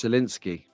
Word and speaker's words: Scalextric: That is how you pronounce Scalextric.